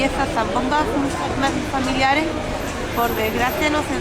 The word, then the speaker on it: zambomba: Si tú puso a alguien decir zambomba, no está ni una zambomba de jerezana ni de Jerez de Puracé. Es zambomba, que suene un poco contradictorio, pero se pronuncia así.